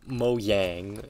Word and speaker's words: Mojang: vibe i get that mojang wants them to mo yang i believe it's how it's pronounced but i believe that